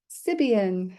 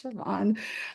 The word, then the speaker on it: Siobhan: Gaelic traditional way, and everybody's like Sibian, and I'm like, no, it's Siobhan.